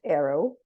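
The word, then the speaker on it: AERO: of Applied education research operatives pronounced Arrow that's a cool acronym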